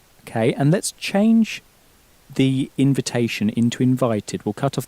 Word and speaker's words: invitation: bit trickier to pronounce because the in at the beginning has that sort of sulky teenager sound that's pronounced. Un. So how would you say again invitation? Invitation. Okay, and let's change the invitation into invited.